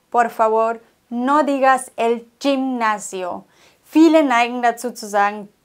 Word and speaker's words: gimnasio: G vor I und G vor E. Wenn es aber vor A, O und U steht, dann wird es wie ein normales deutsches G ausgesprochen. El gato, die Katze. Vor E und I, aber als CH. Gimnasio. Okay, es muss im Hals kratzen.